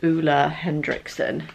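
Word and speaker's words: Ole Henriksen: Yes, this mask from, I think it's Ola Hendrickson is how you say it. It looks like Olay.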